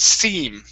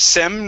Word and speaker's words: seam: the only one you missed was seam instead of sem real unreal sorry it's